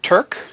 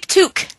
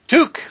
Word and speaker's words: Tuque: have double checked it Turk toque to toque like a Canadian excellent I love it